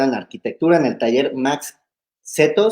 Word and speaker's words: Max Cetto: la arquitectura del taller max cetto se pronuncia machete yo creo que la